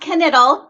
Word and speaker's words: Knittel: they can find you it's pronounced kanital k n i t t as in tom e l okay okay now before